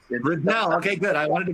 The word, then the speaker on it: Riddall: Describe a bit of what Mintent is about, and I want to make sure I'm pronouncing your name right. It is Riddall? Riddell, actually, yeah. It's Riddell, okay, good.